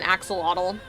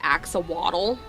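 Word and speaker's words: axolotl: And if I say it like that, my nieces will slap me because they say it's pronounced axawaddle. So, uh, you might hear me from now on referring to it as an ax waddle so I don't get in trouble tomorrow.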